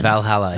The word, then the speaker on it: Valhalla: what I bought that new reverb is it Valhalla is that how you pronounce it yeah Valhalla Valhalla I got their vintage reverb boys making